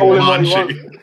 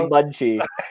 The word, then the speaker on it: Monchi: You found a way of mispronouncing Monchi. It's definitely Munchi.